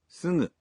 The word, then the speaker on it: すぐ: Now, is the sound of the G in sugu a voiced consonant like sugu, or is it a voiced nasal sugu? It's すぐ a voiced nasal. In Japanese, you pronounce g in the initial syllables of words as a voiced g, like がぎぐげご but for other syllables such as すぐ you pronounce the g sound as a nasal.